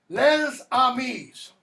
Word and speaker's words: les amis: It's not les amis or les amis. In French, when you have an S that comes before a word that begins with a vowel, that gets elided.